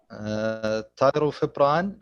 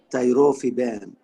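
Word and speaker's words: tirofiban: Pronounce it again, please. Biximab. أيوة. Okay. Tyrofibran, 400. Tyrofiban.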